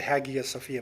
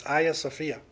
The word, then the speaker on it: Hagia Sophia: And the Hagia Sophia, the beautiful, some people pronounce it Hagia Sophia, but it's Hagia Sophia.